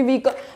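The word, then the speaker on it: vehicle: ये भी बहुत कॉमन वर्ड है क्योंकि व्हीकल, व्हीकल हम सब लोग यूज करते हैं। इट्स व्हीकल, व्हीकल, नॉट व्हीकल और व्हीकल। व्हीकल भी रॉन्ग है, इट्स व्हीकल, व्हीकल। इस तरीके से हमें प्रोनाउंस करना है।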